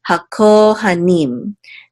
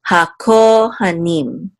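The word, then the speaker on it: הכהנים: This shavar right here reduces this patak sound, so you want to make sure to not accent this syllable for sure. So hakohanim, hakohanim, and the ha means the.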